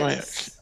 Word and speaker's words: Aiac: Aiac. Ah. Aiacus, but short one syllable because of scansion.